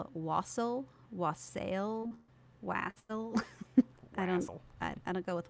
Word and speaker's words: wassail: It's an Old English word, and the pronunciation is most similar to West Hail. But I mean, nowadays we call it Wassail, Wassail, Wassail.